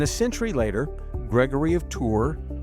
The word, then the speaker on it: Tours: I pronounced his name like a Texan, hard on that S. Gregory of Tours. So, forgive me. The French way. And apparently the correct way is Gregory of T.